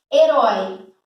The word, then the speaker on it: herói: Herói. Herói. Eu divido sílaba, ó. Se eu divido sílaba, já não é monossílaba. Eu sei que herói, a última sílaba foi mais forte.